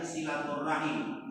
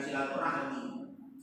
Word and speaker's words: silaturahim: Tapi ketika kita menjaga hubungan dengan kerabat, itu namanya silaturahim. Jadi yang lebih ditekankan itu Makanya ulama yang benar bacanya silaturahim, bukan silaturahmi. Kalau rahmi itu beda, silaturahim. Karena ada rahim, yaitu hubungan kekeluargaan, masih ada nyambung nasab atau keturunan atau darah.